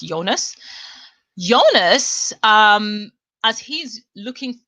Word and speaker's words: Jonas: in on okay so jonas or jonas i think it's supposed to be pronounced jonas jonas um as he's